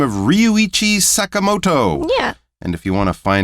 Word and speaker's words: Ryuichi Sakamoto: might know the name Ryuichi Sakamoto. My apologies for my Japanese pronunciation, but that is how we would pronounce his name in English.